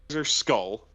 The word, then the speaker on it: SKL: all first of all it is pronounced skull off